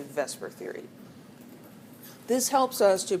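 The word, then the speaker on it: VSEPR: It's a little hard hard to pronounce and so we we tend to say vesper even though that's switching the E and the S but we know what we mean when we talk about that.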